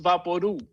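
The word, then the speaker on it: Vaporú: poem is no vaporu papodu is pronounced vaporu like loud or chew the label for vaporu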